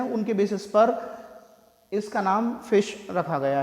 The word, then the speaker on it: ghoti: गोटी, कुछ ने कहा घोटी, ऐसे ऐसे टर्म्स आए होंगे, बट इट इज़ नॉट घोटी। ना ही इसे घोटी बोलेंगे ना इसे गोटी बोलेंगे। इसका प्रोनाउंसिएशन होता है फिश, FISH।